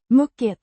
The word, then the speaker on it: mycket: Pronounced muk with a short uh sounds similar to the u in put.